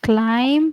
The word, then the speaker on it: climb: Okay, climb, silent letter B.